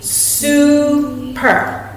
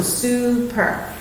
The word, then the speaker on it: super: So if we were going to decode this word, it will be super, okay? Because it's a VCV pattern, it's going to make a long U sound. So super, all right?